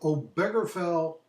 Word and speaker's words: Obergefell: And this is kind of gay marriage laws, number 61 on our study guide, until the case of Obergefell is how it's pronounced, v.